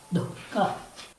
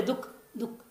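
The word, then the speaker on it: दुःख: और लोग बोलते दुख दुख, बिल्कुल गलत उच्चारण करते हैं। न विसर्ग बोलेंगे न जीवामूली बोलेंगे, दुख दुख हो गया।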